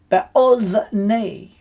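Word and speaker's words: באזני: And the note is that the kamatz rule applies, being a short O sound. So in a closed syllable, usually at the first, then the kamatz changes to an O sound. So it is be'ozni, in the ears.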